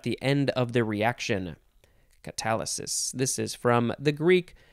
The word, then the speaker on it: catalysis: It is catalysis. That's not how you say it. Catalysis.